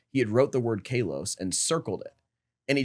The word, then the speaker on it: Kalos: which is biblically speaking, I believe it's actually pronounced Kalos. Okay. Um and so we call it a southern Greek pronunciation when we call it Kalos.